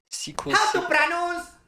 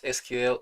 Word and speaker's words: SQL: face doing this video it's actually Sequel and this is actually hyper text markup language and cascading Styles shets you don't pronounce them as as abbreviations okay actually I use SQL HTML and CSS I